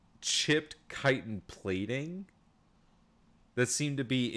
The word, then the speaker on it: chitin: ever it's every word I swear uh yeah chitin so like you see that there are like pieces of this like chipped chitin plating that seemed to be embedded in uh